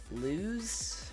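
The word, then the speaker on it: Lewes: it is Owen it it's le w es so lose I lose delaware in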